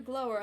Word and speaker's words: glower: Must you glower at me so, Mr. Kawada? It's pronounced glower, sir, and I'm not glowering at you.